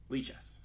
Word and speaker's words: Lichess: How do you pronounce Lichess? Lichess.